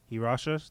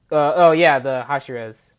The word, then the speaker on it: Hashira: Let's talk about the Hirashas. That's how you say it. The Hashiras. Hashiras. There you go.